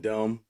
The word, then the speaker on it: dumb: The B and dumb.